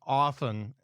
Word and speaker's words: often: In my house, it's often with no T, and I only hit you up for money as often as I need to post bail.